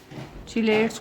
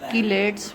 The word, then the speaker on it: chelates: चिलेट्स को बाज़-औक़ात किलेट्स भी pronounce किया जाता है। दोनों प्रोनाउंसिएशन इसकी ठीक हैं।